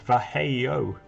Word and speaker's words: Vallejo: MLG was looking up some information the other day and found a fact about Vallejo, and it's actually pronounced Vallejo.